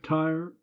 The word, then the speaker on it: Tyre: Tyre, you notice, 2 syllables to rhyme with deny her in line 3.